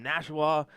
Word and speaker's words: Nashua: the 2022 which city open live here from Nashua New Hampshire that's right I said it right